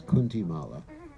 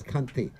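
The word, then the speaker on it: kanthi: first joined the movement everyone would pronounce it as kunti mala yeah it's kanti which means the neck the mother goes around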